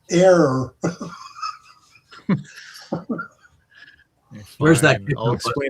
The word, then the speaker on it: Ayr: First of all, air is AYR, not AIR.